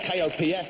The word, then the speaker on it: Kopf: Kopf, spelled K-O-P-F, but I've been told not to pronounce the letter P.